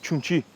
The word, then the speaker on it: Jung Chi: E por último, nós temos o conceito de Jung Chi, que é pronunciada como Chung Chi e comumente traduzido como energia pra frente, ok.